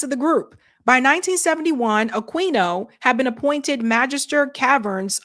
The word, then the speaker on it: Aquino: Aquino dressed for a demonstration for a satanic ritual in 1973. Very strange. Oh, thanks, Eric. Eric said it's pronounced Aquino. Sorry, Aquino.